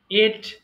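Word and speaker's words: ate: আবার এটা অনেকে ভুল করে অ্যাট বলে ফেলে, হ্যাঁ, অ্যাট হবে, ওই যে বলি না আই গো টু my office অ্যাট 9 o'clock, তখন অ্যাট হয়, বাট এটার উচ্চারণ হবে এট।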